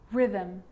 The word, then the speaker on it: rhythm: with a g-ghost ghost and with an r rhythm or rhyme good news that I is not usually silent it's usually pronounced except in the word business okay okay